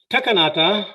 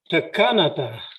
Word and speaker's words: Texa-Kolo: I had to correct along the way the correct pronunciation. It's not Texa-Kolo, but Texa-Kolo, which means to weave, and referring to these crossing steps and so on.